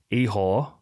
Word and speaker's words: Ihor: And then we've got Ihor. Yes. Potieria. Yes. Potieria. I feel like I'm just saying yes. I don't know if that's actually correct. Yeah, I don't know. I've heard Ihor before.